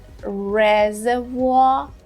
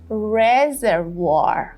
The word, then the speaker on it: reservoir: Here, for the British one, we would have reservoir, reservoir. The second R and the third R would not be here in the British version. But in the American pronunciation, you would say reservoir. Those second and third R's are clearer here.